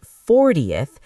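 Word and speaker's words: forty: 14th the stress is on the second syllable but 40th the stress is on the first syllable.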